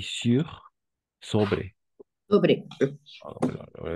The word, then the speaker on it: sur: Y ahí está la pronunciación igual. Sur con la I más o menos. Así, una cosa así. Y este ya sería la U. Sur et sous.